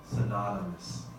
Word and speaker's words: synonymous: the word synonym so the pronunciation changes a little bit from now home to adjective form now on form is synonym synonym synonym is a word that has a similar meaning when you change it to advocate synonymous that's more of an odd sound synonymous if something is synonymous